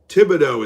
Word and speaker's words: Thibodeau: Thibodeau is how it's said.